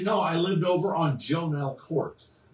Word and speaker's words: Jonell: I lived over on Jonell Court. Jon Court. Yeah. Right off of St. Charles Road. Jell Court. No, it's Jonel. Jonell. Jonell. Jonell. It's actually pronounced Jonell.